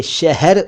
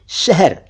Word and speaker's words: शहर: लेकिन आप शायद यह नहीं जानते होंगे कि शहर सही उच्चारण नहीं है। सही उच्चारण है शहर यानी ह आधा है।